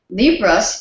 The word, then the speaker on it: Libras: speak Portuguese and libras Libras is the name of Brazilian sign language it's spelled l i b r a Libras and so we asked